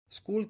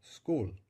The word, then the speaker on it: school: sonidos tiene esta palabra pues no tiene seis sonidos es cool tiene nada más que cuatro sonidos la s la k la 'u' y la l es cool un concepto importante por